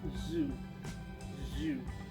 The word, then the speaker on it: ZJUE: plates from a company i think it's pronounced zoo zoo but it's z j u e and they were on